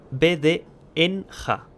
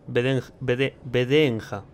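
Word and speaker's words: ВДНХ: Dice, pronúnciese VDNJ. Se llama así la estación, ¿vale? VDNJ.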